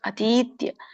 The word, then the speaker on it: ಅತೀತ್ಯ: ಹೇಳಿ ಮೂರು ಪದ ಬರುತ್ತೆ ಈತಕ್ಕೆ ದೀರ್ಘ ಇದೆ ಅತೀತ್ಯ ಗುಣಾನ್ ನೇತಾನ್ ಗುಣಾನ್ ಏತಾನ್